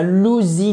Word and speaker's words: lousy: Et pas un lousy day. Non, a lousy day. Lousy day. Ce que vous voyez ici, le OU, ça se prononce exactement comme dans out.